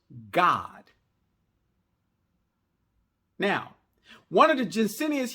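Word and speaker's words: גד: Testament / covenant, and the Hebrew word is pronounced God. So the word that they transliterated into English, troop, actually in the Hebrew, it actually is pronounced God.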